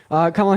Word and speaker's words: Kamala: But I know her name is pronounced Kamala. If you could pronounce it correctly, thank you.